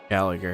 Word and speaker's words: Gallagher: it's probably gallager the one he mentioned right Gallagher that's how you say his name I said